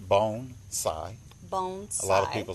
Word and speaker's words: bonsai: what bonsai is bonsai first of all it's pronounced bone sai bones a lot of people say bonsai or bon zi with a z but it's bonsai it's two